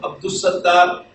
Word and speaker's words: Abdussamie: But in case of Abdussamie, again lam is not being pronounced, though Abdussamie is written like this.